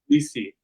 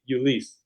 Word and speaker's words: Ulysse: the name do you leave the pillar i pronounce it lisi i say my name is but but other people in my family they'll say you lease or you list so there's multiple ways know just can you